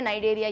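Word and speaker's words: Cnidaria: अब एन नहीं है, सी है, सी साइलेंट है, इसलिए क्या नाम दे दिया, नाइडेरिया, यानी कि नाइडेरिया सीलेंट्रेटा एक ही चीज है।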